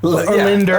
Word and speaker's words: Lindner: I added an extra syllable Because of that jug of water. Lindner. Lindner.